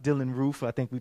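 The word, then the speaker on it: Dylann Roof: Anybody remember the story of Dylan Ralph? It's pronounced Dylan Roof.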